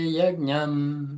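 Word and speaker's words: यज्ञम्: Ce J-là se prononce comment en plein milieu comme ça? Un, Comme un J. un J, parfait.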